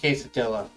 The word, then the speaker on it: quesadilla: house oh stretching oh what's a case uh sorry it's pronounced quesadilla um i'm pretty sure